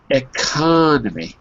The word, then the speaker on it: economy: economy sorry economy eony economy so there it's on the con second syllable e no no sorry